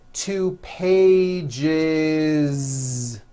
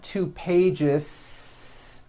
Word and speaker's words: pages: with that voiced Z two pages it's not too pages unvoiced no it's two pages with a voiced Z even though you spell